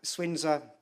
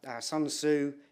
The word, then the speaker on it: Sun Tzu: going to say it uh swinza Sun Tzu depending on how you want to pronounce it this idea of knowing